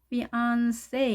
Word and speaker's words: fiancé: 자, 우리가 피앙세라고 하는데 P 발음이 아닌 F 발음이고요. 세로 끝나지 않고 say, A로 끝난다는 거 차이점이 있죠. 그리고 우리가 그냥 피앙세라고 해서 높낮이가 같게 발음을 하지만 영어든 프랑스는 강세가 있습니다. 그래서 이 단어는 뒤에 A의 강세가 있죠. 보시겠습니다. 제1강세, 제2강세 보이시죠? fiancé 이렇게 발음해야 되네요.